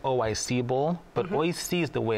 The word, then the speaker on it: Oi-C Bowl: Oishi is the way it's pronounced, actually. Oishi being a play on words, it means delicious in Japanese. Mm-hmm. Oishi. But if you say O-I-C, you're okay.